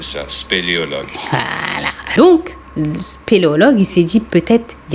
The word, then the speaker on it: spéléologue: Comment on dit ce truc? Spéléologue. Est-ce que je le prononce bien? Oui, très bien. Ok. Spéléologue. C'est nickel.